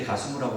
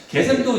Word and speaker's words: 게셈: 게셈을 발음을 다른 식으로 했을 때 가수무라고 말하는데 게셈입니다. 게셈 나왔죠. 게셈도 얘기하기를 저 사람도 네가 그런 걸 꾸몄다라고 얘기해.